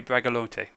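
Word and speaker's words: Bragelonne: d the vicomte de bragalonte dragalon bragalon the e's not pronounced go ahead of that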